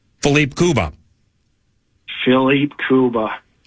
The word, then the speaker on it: Kuba: Well one guy's last name rhymes with tuba. Phipe Kuba.